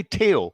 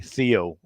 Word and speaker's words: Theo: pronounced by anyone and i say teo because this is the way we say in denmark and now sort of spain actually and but you can also say theo if you like it